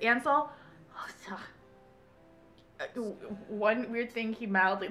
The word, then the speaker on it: Ansel: I'm saying it right, I'm not saying it weird, it's Ansel.